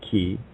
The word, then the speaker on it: chi: is merely a fluke the Greek letter key pronounced key spelled Chi by the way looks